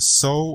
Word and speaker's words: SOW: So, well, it's spelled sow like the pig, Mm-hmm. so that's kind of the joke, but, I kind of made it seem like it's pronounced so, like you're sowing the seeds of success, right?